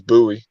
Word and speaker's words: Bowie: pronounced bowie but um in this case it is it is buoy yeah like like black